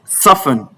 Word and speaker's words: soften: Whenever you come across any of these words listed here, bear in mind that the T is silent.